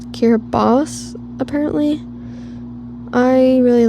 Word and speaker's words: Kiribati: Now, I think it's supposed to be pronounced Kiribati, apparently.